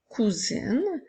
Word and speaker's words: cousine: une fois la lettre S que le son puisqu'elle est entourée de voyelles je peux utiliser le mot cousine dans la phrase ma cousine va dormir chez moi